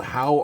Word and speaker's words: Howe: All right, this one's called How Are You, Steve? And it's spelled H-O-W-E, so that must be Steve Howe, if I have that right.